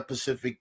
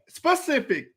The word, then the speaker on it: specific: time he brought up it's not pacific it's the word is not this is really frustrating me the word is not pacific mari what's the word what's the word how do you say it specific why is he saying pacific like the pacific ocean why is he saying